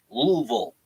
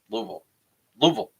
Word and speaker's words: Louisville: okay we say Louisville Louisville okay so Louisville there's no e like Lulu okay I'm done I'm